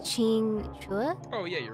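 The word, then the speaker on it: Qingque: show is pretty kinky I believe that the queue is actually a cha sound so Ching Chua oh yeah you're right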